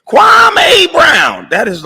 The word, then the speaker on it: Kwame: Because you haven't figured out how to pronounce my name in 20-something odd years, you clown. And everybody in the world can say my name. It's easy. It's Kwame.